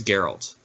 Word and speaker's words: Geralt: I thought it was Gerald, but no, I think it's Geralt. Really? Yeah, Geralt of Rivia. Yeah, I don't think they pronounce the G hard.